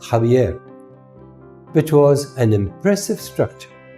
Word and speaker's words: Xavier: family lived in the castle of zavier pronounced jaier which was an impressive